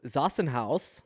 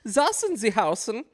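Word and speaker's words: Zassenhaus: If you're not familiar with Zassen House, you have to say it like that. Zassen Zen.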